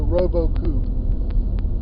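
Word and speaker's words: Robot-Coupe: processor in professional kitchens it's called the robocoop and that's french you know and it's spelled robot coop like c-o-u-p-e so robo chicken robot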